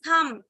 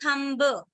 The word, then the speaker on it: thumb: It's thumb and not thumb.